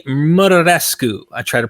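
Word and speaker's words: Muraresku: Murarescu. I try to pronounce that correct. Murarescu is pretty much how it looks in English.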